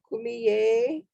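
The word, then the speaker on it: Kumeyaay: And from what I was told it is per pronounced like k me I kumi. So it's three syllables and that is in San Diego.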